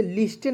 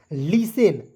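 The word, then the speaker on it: listen: तो अब इसे लिस्टेन नहीं पढ़िएगा। इसे पढ़ेंगे लिसेन। देखिए यहां पे टी जो है साइलेंट हो जाता है।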